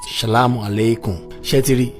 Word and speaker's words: shalom alaikum: In Aramaic, peace be on to you is typically pronounced shalom alaikum.